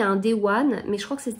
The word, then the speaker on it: Dewan: Voilà, alors ça se dit divan plutôt. Ça s'écrit D-E-W-A-N, et ça se lit divan.